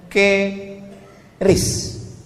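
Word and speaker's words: QRIS: Sekarang di pintu-pintu masjid, di pintu-pintu mall ditulis ada namanya ke ris. Kis. Cara bacanya gimana sebetulnya? Keris. Q-nya quick. Quick artinya cepat. R-nya respons. Kris quick response code.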